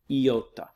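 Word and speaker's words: ιώτα: the next is iota it looks like an eye but it has an e sound yota then the next is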